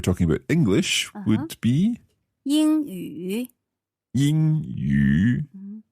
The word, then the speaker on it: 英语: Okay, English, if we're talking about English, would be 英语。英语. So that's a first tone and then a third tone.